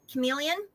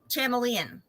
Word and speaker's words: chameleon: I was also one of those people who pronounced chameleon, like chameleon, for years. Oh, you do the ch, the ch sound. Yeah, instead of making it a k.